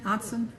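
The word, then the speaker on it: Ottzen: Otson, O-T-T-Z-E-N, Otson? Yes. I said it right. My name is Otson, O-T-T-Z-E-N.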